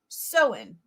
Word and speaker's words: Samhain: out it's um spelled Samhain but it's actually pronounced so in really really weird um but this is the